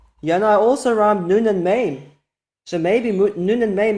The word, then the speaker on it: Mem: There's no really dispute anywhere in the world that the letter Mem is pronounced M.